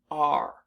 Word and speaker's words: are: we pronounce this word r so the unexpected part of this word is the e at the end because it's not doing